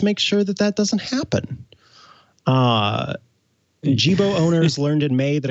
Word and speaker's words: Jibo: I think Burke knows how it's pronounced. Jibo. Jibo.